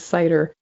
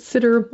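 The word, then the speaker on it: CIDR: cider classless interdomain routing which I refer to as cider though some people pronounce it sitter or even Cedar but regardless c i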